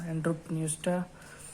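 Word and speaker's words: Enteropneusta: एक हो जाती है एंट्रो, पी एक इसमें साइलेंट है, न्यूस्टा, एंट्रोपन्यूस्टा।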